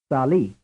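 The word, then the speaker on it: salì: is two frame 25 which syllable is stress the first or the second Sali the answer is the second frame 26 as far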